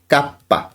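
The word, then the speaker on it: kappa: কাপ এটিকে কি বলা হয় এটিকে বলা হয় কাপ্পা এখানে এই কে এর উচ্চারণ কি কাপ্পা এবং তোমরা সবসময় জেনে এসেছো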